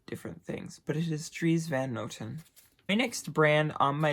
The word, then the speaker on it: Dries Van Noten: another Dutch designer it is Dries Van Noten trees Van Noten makes the most beautiful designs ever people don't know how to pronounce pronounce it I hear like dries van Otten assorted different things but it is trees Van